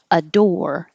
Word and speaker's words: adore: Just the verb adore. The OR really sounds like or.